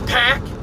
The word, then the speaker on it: PAC: goddamn British commentators are pronouncing his name as Pac, and it's Pac, okay?